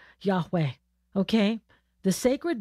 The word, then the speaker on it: Yahweh: Okay, some people pronounce it as Jehovah. It's not Jehovah, Yahweh.